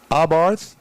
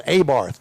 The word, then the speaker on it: Abarth: Now, I'm pronouncing it the way I was taught how to pronounce it. Abarth's correct. Correct. The pronunciation is because, correct. you know, there are people that go, oh, it's Abarth. No, it's not. That's it's it.